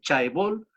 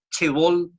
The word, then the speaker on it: chaebol: Chaebol, se escribe chaebol, chebol, si usted quiere pronunciarlo así, que son los conglomerados industriales